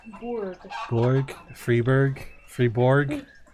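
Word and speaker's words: Freiburg: let's do this one fryberg no freeberg it is freeberg okay freeberg more freeberg no it's free free be free no it's Borg Borg freeberg freeborg it's been so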